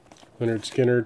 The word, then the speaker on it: Lynyrd Skynyrd: is also a reissue leonard skinner pronounced Lynyrd Skynyrd Street survivors without the